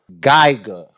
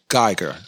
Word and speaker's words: Guyger: America, and this is the trial of Amber Guyger. Am I saying her name right? Absolutely. Let me pronounce it right. Convicted felon murderer Amber Guyger.